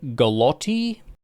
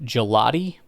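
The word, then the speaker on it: Gillotte: Um, Ashton Galotti is actually Gelotti. It's kind of like gelato, but uh if you want to say it weird, like give me some of that gelatin.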